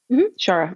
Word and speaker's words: Shara: When I tell you I ran into, and it's pronounced Shara, right? Shara.